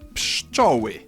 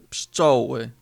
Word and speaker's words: Pszczoły: By now you've realized that what may look like 5 consonants stuck together is actually just 3. P is the same as in English and everything else we've already mentioned. P, sz, czy, o, ły, y. Pszczoły. Pszczoły.